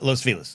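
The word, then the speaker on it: Los Feliz: Los Pheliz uh Los Felis. That's how you say it. That's the guy's name that was named after. Just so we all know that's actually the history. It's not Los Felis like you say Los Felis.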